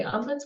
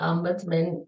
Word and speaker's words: ombudsman: the word so it's sometimes people are say umus what what how do you even say that word so umman is a Swedish word um and it's pronounced umman and it's a specially trained Advocate who is